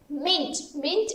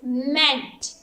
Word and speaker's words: meant: meant m e a and t meant mint is the wrong pronunciation the correct pronunciation of this word is meant m-e-a-n-t meant understood okay now move to next exercise